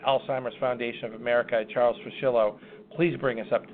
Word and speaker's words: Fuschillo: the CEO of Alzheimer's Foundation of America, Charles Fuschillo. Do I have that correct, Mr. Fuschillo? Is that the pronunciation?